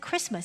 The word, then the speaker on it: Christmas: of course it's Christ must but we don't pronounce the tea inside Christmas it's a day of Christ and if you